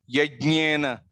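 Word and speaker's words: यज्ञेन: Yajnena. Yajnena Yajnyama Yajanta Devaha. Yajna. Jna. The sound should come from the nose.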